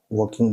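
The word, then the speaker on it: walking: है seating riding riding वकिंग में L silent है इसलिए हम इसको वकिंग बोलेंगे और पासिंग पी ए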